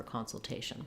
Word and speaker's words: consultation: And in consultation, we have a pattern which is very typical in that words that have the ation ending are always going to be stressed on that A syllable.